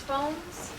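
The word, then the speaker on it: Fones: relatives did you know elizabeth as it pronounced phones yes phones f-o-n-e-s elizabeth bones married her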